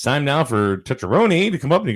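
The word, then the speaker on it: Tucciarone: it and they said just say it like this touch your own knee touch that's right so so john goes and it's time now for tetrony to come up and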